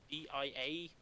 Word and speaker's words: Dia: and they're usually called dia Dyer hey from the world map I always pronounce it as dear personally yeah he gets more